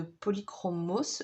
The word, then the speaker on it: Polychromos: j'ai une boîte de polychromos, je pense que le S se prononce.